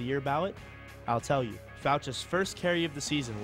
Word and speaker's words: Fouch: One clue, his last name rhymes with couch. But as Pat Chiesa will tell you, this guy, no couch potato. Here's why you should vote for Mitchell Fouch.